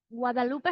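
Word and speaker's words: Guadeloupe: Yes, Guadalupe, how do you say that?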